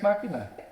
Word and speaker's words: Machina: Deus Ex Machina. That's how you pronounce it. It's Machina. It's Machina.